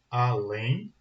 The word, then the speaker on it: além: Então a gente tem a palavra além. Além é oxítona.